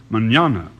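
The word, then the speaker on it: mañana: Manana spelled m a n n a and pronounced Manana in Spanish that means tomorrow very pretty sound of word don't you think Charlie Manana yes sir matter of fact I might even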